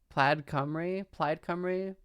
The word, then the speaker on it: Plaid Cymru: I cannot fucking remember how to pronounce this name. Plaid Cymru.